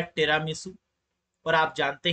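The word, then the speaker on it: Tiramisu: टिरामिसू है, टिरामिसू कह सकते हैं, that is the correct pronunciation.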